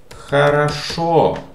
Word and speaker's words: хорошо: You can answer хорошо. This letter О is stressed, so these two are pronounced correct.